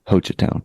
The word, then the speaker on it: Hochatown: hotel Town Saloon um pretty sure you pronounce it with the long o hocha town right I don't know